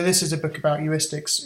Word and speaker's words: heuristics: Some people pronounce it heuristics, they're wrong. It's called, the word is heuristics, problem solving.